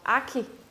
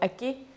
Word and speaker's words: Aki: think that is pronounced Aki because of the K but in Greenland a lot of the syllables are actually pronounced a little different so for example Aki the K is pronounced as a g so it's uh